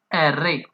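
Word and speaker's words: erre: है आर आर को Italian में बोला जाता है एरे एरे आप भी जब इस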